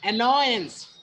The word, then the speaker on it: annoyance: The word takes the stress on the second syllable, annoyance. There is a three syllable. आप लोगों ने बोला था the first one is the annoyance. The second syllable has been emphasized here.